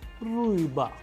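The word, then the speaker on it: рыба: How do we pronounce it? Riba, uy. That is why it is a vowel, that is why the stress is falling onto it, and the pronunciation is ruiba, which means fish in Russian.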